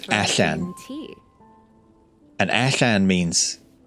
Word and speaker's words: allan: And A-double-L-A-N in Welsh is pronounced Allan.